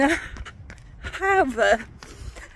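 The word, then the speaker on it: Jávea: and um we're in hav I pronounced it wrong yesterday I said it would have but as someone pointed out to me yesterday you don't pronounce A J's so we're in h but I'm a bit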